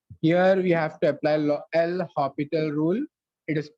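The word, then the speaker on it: L'Hôpital: Here we have to apply L'Hopital rule. It is pronounced, but we write it as L'Hospital.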